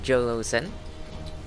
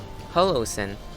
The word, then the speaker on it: Jolo-sen: Oh, hello there, Jolo-sen. Or is it pronounced as J0L0-sen? Hey, what's up? んじゃあまあぶちかますかね。王の話をするとしよう。 Holo-sen. Sure. So, J is pronounced as an H.